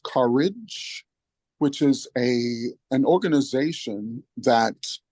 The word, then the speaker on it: CUREJ: And he's gifted us today with introducing us to Matt Lowe, who is the founder of CUREJ, which is pronounced Courage, which is an organization that organizes faith-centric communities in an effort to make reparations.